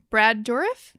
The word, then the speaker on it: Brad Dourif: And Brad Dourif, Yep.